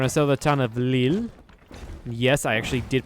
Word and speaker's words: Lille: Alright, we're going to sell the town of Lille. Yes, I actually did pronounce it correctly this time.